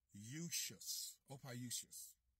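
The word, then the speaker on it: Ophiuchus: Opiusius. That's how you pronounce his name.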